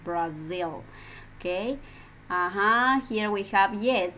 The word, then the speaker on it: Brazil: Miss, pero Brasil se escribe con S, ¿no? Yeah, that is in Spanish, but in English it's Brazil, ¿no? Entonces, miren por ahí, ¿no? Those details, and that is the pronunciation, Brazil, okay?